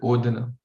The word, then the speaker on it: odana: So why Krishna uses the word odana? Very beautiful purport, very beautiful. Odana, o, the, and na.